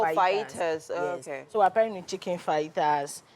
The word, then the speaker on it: fajitas: The spelling is fajitas, but the pronunciation is Oh, fajitas.